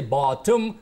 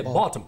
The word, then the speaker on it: bottom: But words like term, in bottom, need not have a vowel sound in the middle. And we call such word syllabic consonant. Syllabic. So the stress or the focus goes on the last bit, which is very short. And we don't say bottom, we say bottom.